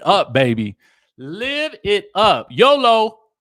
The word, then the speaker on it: YOLO: baby live it up YOLO rhymes with bolo you only live once